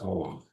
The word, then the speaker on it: Om: So the first word in the mantra is Om. And it represents this constant transformation, constant movement. It's 3 syllables, Au, or Ma.